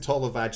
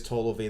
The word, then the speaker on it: Tolove: In fact, it isn't Tolovaj. It used to be Tolovaj because of the way he spelled it, but it actually is Tolove.